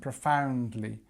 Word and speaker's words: profoundly: So again, because we have this longer word, it tends to have the stress on the second syllable. So we have the schwa here, like we always do, and we have this ow sound, profoundly, and we have our